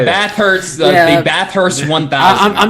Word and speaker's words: Bathurst: Bathurst, Yeah.